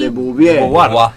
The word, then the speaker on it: de Beauvoir: No, esta es la película, es, pero Simón no es, es Simón de ¿cómo se pronuncia, Mati? De Beauvoir.